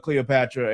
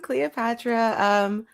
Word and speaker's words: Cleopaxtra: would like to introduce Cleopatra, aka Cleo. Please go ahead and introduce yourself, man. Hey. As you said, I'm Cleopatra. My screen name is spelled Cleoxpatra, but the X is silent.